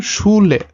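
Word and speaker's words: Schule: এটা sounds like SH, আর যেটা বাংলাতে হয় স, তালব্যস্বর মতো উচ্চারণটা হয়, যেমন শুলে।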